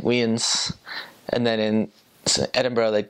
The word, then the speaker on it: Edinburgh: I was like oh I'm going to go to Edinburg and she's like no never say that again that's not how you say it I like oh it's like it's Edinburgh so Edinburgh it's they also roll